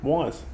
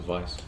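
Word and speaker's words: Weisz: Rachel Wise. That's how you pronounce the name, Wise. Really? Wise. Yeah. I always thought it was Vice.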